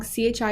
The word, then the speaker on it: chi: CHI is actually pronounced chi, as in the Greek letter.